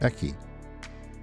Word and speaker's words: 駅: So we already saw station, 駅 and now we know station is pronounced eki.